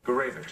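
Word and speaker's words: Gourevitch: Gurevich.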